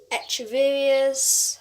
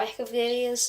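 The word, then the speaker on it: Echeveria: euphorbias other succulents like extra various or echeverria's depending on how you say it there's lots of different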